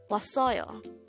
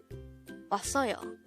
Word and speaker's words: 왔어요: This is pronounced as a three-syllable word. The first syllable is was, second syllable is the third syllable is yo. Pronounce it with me. 왔어요. 왔어요.